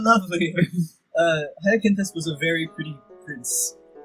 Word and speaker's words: Hyacinthus: It's Hyacinthus or Hyacinthus, but however you want to say it. It's Hyacinthus.